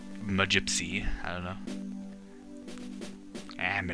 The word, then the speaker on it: magypsies: time h magypsies Huh I've heard it pronounced magypsies but I like it magypsy I don't know I'm